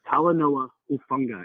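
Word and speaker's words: Talanoa Hufanga: Evo also deserves some serious criticism on his inability to pronounce Polynesian names. It's Talanoa Ufunga.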